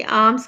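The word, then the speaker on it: alms: ये आर्म्स का मतलब होता है खैरात, और इसका एल जो है वो साइलेंट है, तो इसका आंसर है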